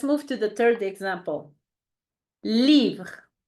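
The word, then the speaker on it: livre: good perfect let's move to the third example leave leave which means book in French leave repeat after me leave your turn Okay a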